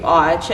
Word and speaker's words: Qi: there so you can see it but Qi Chi and it's like something's don't even know how to pronounce her they get like well mr.